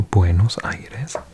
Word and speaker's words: Buenos Aires: I've heard some butchered pronunciations of that. What have I heard before? Someone said Buenos Aires, maybe, or Buenos Aires. Oh god, some terrible. So Buenos Aires.